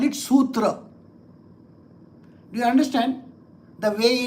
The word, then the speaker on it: sutra: Our pronunciations are Sanskrit pronunciations. So we pronounce it correctly. They call it suta. We call it sutra.